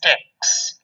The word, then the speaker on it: TeX: The actual pronunciation is tech.